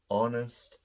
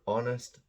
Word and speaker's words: honest: um so it's our honest there we go our honest honor so these are pronounced with an O at the beginning not an H the H is silent so it's an honest